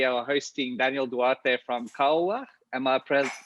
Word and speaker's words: Koawach: uh today we are hosting daniel duarte from kawa am i pronouncing that correctly yeah perfectly daniel tell us